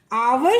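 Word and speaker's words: hour: तो ये जो देखिए बच्चों, हमेशा इस बात को ध्यान रखिएगा, जो आवर होता है उसमें एच साइलेंट होता है, इसलिए ओ को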